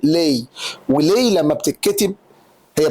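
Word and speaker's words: Lei: فحضرتك دي في الايطاليه بتتنطق لي.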